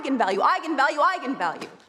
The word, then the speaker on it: eigenvalue: the director said yes that is how you pronounce it so I went out there and said that's right Eagan value and then apparently the internet went nuts when it came out because apparently it's pronounced eigenvalue that's how you're supposed to say it I'm